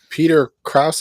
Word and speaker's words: Peter Krause: So Peter Krause, is that how you say his name?